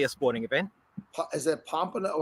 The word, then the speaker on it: Pamplona: know it's technically a sporting event is that pompano how do you say that so what a p yes am i saying it right claus pamplona somebody wrote yes yes i was close scott